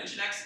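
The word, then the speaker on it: nginx: it actually my first off thank you for pronouncing keep telling difference sure um I'll engineers you're good question so language yeah engine X is what's goin acts as much so Apaches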